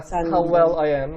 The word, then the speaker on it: senden: Senden ne haber? How about you? And Sandan.